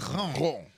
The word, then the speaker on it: macaron: Macaron.